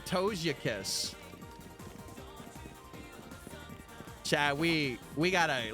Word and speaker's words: Togekiss: Yeah, it's Togekiss.